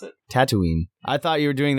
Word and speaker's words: Tatooine: like if Star Wars if they never left tatle tattoo yeah right exactly tatle yeah why do you call it taty how do you pronounce it Tatooine I thought you were doing that on purpose